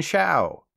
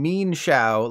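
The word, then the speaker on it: Mienshao: else knows Kung Fu meenfu and me and Xiao except those aren't how you say those Pokemon they're actually mean Foo and mean Xiao like how it's really mean that the Pokemon company makes us pronounce them this way moving on do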